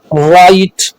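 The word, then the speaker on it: right: चलिए rule number 4, अगर आई के बाद जी एच आए तो आई अपनी आवाज आई देगी और जी एच साइलेंट रहेगा।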